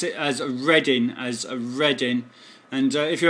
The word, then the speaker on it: Reading: XR United okay then there's all copied we pronounce it as reading as reading and if you have a look